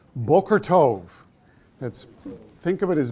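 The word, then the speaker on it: בוקר טוב: it's morning and what they say is bulgor Tov that's think of it as be okay er T o V bokor means morning tove means good so Booker Tov very good the other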